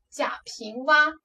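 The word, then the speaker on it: 贾平凹: 叫做贾平凹，注意这个字的发音读作 “ 蛙 ” 字。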